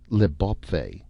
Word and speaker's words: L'Bawpfey: When the Earthmen landed on the new planet, they had called the new land Leb, or as it was now pronounced, Leb, the beautiful country.